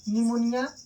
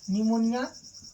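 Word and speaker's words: pneumonia: पी मतलब pleuro, फिर पी का मतलब निमोनिया, यहाँ पे पी साइलेंट है, निमोनिया।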